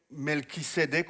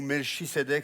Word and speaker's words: Melchisédek: on va parler de en hébreu malkitek en français melkek ou melchek ça dépend comment on choisit de le prononcer alors c'est vrai qu'on